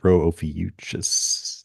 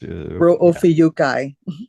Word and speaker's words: Rho Ophiuchi: And you also have a cool shot of I never know how to pronounce it. Rho Ophiuchus. Rho Ophiuchi.